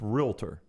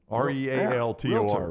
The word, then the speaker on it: realtor: realtor we're both running no real no you don't add the uh it's realtor r-e-a-l-t or realtor really yeah it's not really something yeah realtor i know some people say realtor yeah you don't have the uh okay what's that sauce